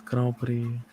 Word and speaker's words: Grand Prix: say It's Grand Prix.